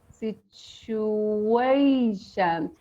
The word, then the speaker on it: situation: second syllable is guys notice that t u okay uh can just make it sound like CH in most cases in a lot of words yes t u can